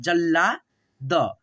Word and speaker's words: जल्लाद: में जुड़ा हुआ है, तो हम ल और ल को साथ में उच्चारण करेंगे, जैसे, ठीक है, जल्ला, जल्ला, ठीक है, जल्ला द, जल्लाद, ठीक है।